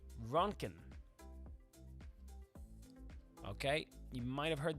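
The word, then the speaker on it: roentgen: That's it's not Rodogen. It's actually Ronkin. That's how you pronounce it.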